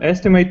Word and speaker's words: estimate: minutes ah i see now there is a slight different pronunciation when it comes to it being a verb or a noun who can tell me